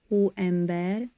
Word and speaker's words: hóember: And just uh so you know, I'm saying who amber exactly as a Hungarian would. The pronunciation is who amber bear. Who amber with a soft h sound at the beginning and the e like in bed.